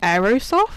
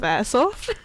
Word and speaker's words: airsoft: just saying is she is she saying aerosoft instead of airsoft honestly i'm dyslexic okay